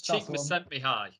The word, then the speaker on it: Csikszentmihalyi: I think it's Csikszentmihalyi.